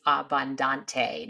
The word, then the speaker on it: Abbondante: Just popping back in here before we start the show, I realized I said Gina's last name wrong. So it's Abundante, not whatever I said before.